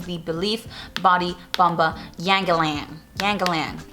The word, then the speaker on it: Yangalan: Yangalan, all right, that's how you say it.